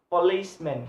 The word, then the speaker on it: policeman: example by keyboard but the stress might be placed on the second syllable of the first world for example policeman policeman policeman police and men and then if you combination if you combinate this word police men policeman the place of distress is the second syllable of the first word so police the second syllable in police is list so policeman policeman please have a stress police police so that is